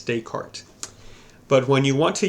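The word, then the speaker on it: Descartes: his last name is dayart it has an S at the end of it and it looks like the S should be pronounced but it it's dayart but when you want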